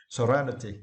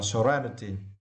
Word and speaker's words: serenity: word serenity right and for this words you need to stress the second syllable right right Serenity yeah and if you